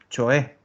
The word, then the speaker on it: cioè: Miren cómo se pronuncia, acuérdense que la C y O suena cho, entonces suenan así, cioè.